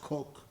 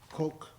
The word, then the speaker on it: Koch: I was just told that Koch is supposed to be pronounced Coke or Coke, I guess. So, yeah, Charles Coke.